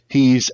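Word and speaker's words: Aech: and but it's uh it's pronounced H but it's spelled a e CH so it's weird and then the other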